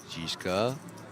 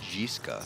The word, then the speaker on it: Jiska: Jishka. Oh, we were pronouncing that wrong as well. It's Jiska.